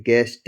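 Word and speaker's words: guest: कहीं भी लिखा हुआ हो जी, उसके बाद आया हो ऊ, यू उसके बाद ए हो या कोई भी वावल हो, तो जो यू होगा वो क्या होगा? साइलेंट होगा।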